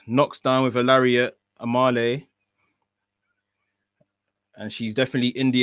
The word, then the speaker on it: Amale: Kicks, knocks down with a lariat, Amale. And she's definitely in the ascendancy right now. Amal is how you pronounce it. That might make sense. Amel, that's what the commentary team are saying.